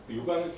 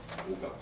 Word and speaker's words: 요강: 최근에 어떤 방송에서 어떤 방송인이 요강을 지칭하는 건 분명한데 계속 오강이라고 얘기를 하더라고요. 오강. 발음이 비슷하니까. 또 오줌하고 오자가 비슷해서 그런 것 같기도 해요. 그러니까 오강이라고 자기는 그렇게 들었었겠죠 어서부터. 근데 그 요자는 오줌 요자예요.